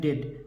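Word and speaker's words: debt: भी साइलेंट होता है अगर टी के पहले बी आ जाए तो भी साइलेंट होता है देखिए t के पहले बी आया है तो बी क्या हो जाएगा साइलेंट हो जाएगा बी क्या हो जाएगा साइलेंट हो जाएगा देखिए टी ई बीटी क्या है डेट डेट माने कर्ज देखिए डी ओ यू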